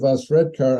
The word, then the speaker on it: Osredkar: Well, with a last name like mine of Osredkar, I'm pretty good at pronouncing names. You don't know how many people have become confused because in my name, instead of instead of CAR, it's KAR.